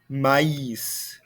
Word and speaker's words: maïs: So placed over the second vowel when two vowel sounds are next to each other, and both should be pronounced separately. For example, Noël, maïs. We hear a difference between the A sound and the I sound.